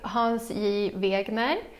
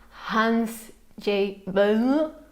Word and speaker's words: Hans J. Wegner: It's made by Hans J. Wegner, as I would pronounce it in Swedish. I guess the Danes would say Hans J. Wegner or something like that, because Danes don't really pronounce words.